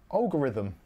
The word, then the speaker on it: algorithm: Algorithm. Algorithm. It's like Al Gore, the American thing, and rhythm. Al Gore, rhythm. Algorithm.